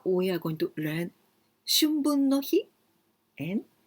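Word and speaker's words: 春分の日: That is, now we are going to learn Shunbun no hi and Shubun no hi. Pronunciation is very, very similar. Shun or shu. Shun with N sound, shu, long sound. Shunbun no hi, this means spring equinox day.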